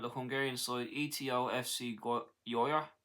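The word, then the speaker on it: Győr: The 21's career began with the Hungarian side Eto FC Yoya Yok Yoya yeah that's pronounced in Hungarian before a year the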